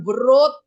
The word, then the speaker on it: wrote: bacanya bukan wrote. W-nya hilang.